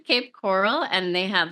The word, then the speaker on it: Cape Coral: Um, and I just played in Cape Corral, uh, or Cape Coral. I say it wrong. Cape Coral, and they had like a a goth Valentine's night there.